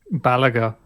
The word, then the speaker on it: Balaguer: I think they just call it Balaguer. Balaguer. Guitars. If it was French, it would be Balaguer, but It's not.